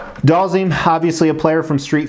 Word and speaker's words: Dhalsim: the concept and design so doll zine I think that's how it's pronounced that's how I always pronounced it doll zine obviously a player from